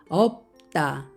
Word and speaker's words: 없다: 비읍 시 옷을 보겠습니다 없다 이것도 역시 앞에 있는 비읍 발음이 되고 뒤에 있는 시 옷은 디귿 만나서 따라는 소리가 됩니다 없다 없다 몸을 만나면 어떻게